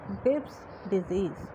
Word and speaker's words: Graves' disease: কেউ গ্রেভ ডিজিজ বলবে না, because the name which we are pronouncing, that he is a scientist, so he is not the disease, his disease, he is identified that condition, that's why we are respecting him and called it as Graves' disease.